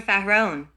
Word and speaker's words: Pharaon: The disciple must enter into a slumber state while vocalizing the mantra Pharaon, which must be chanted in 3 syllables.